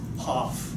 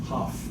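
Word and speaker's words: Hough: and then It's you'll pronounced see Huff. why. Hoff. Hoff.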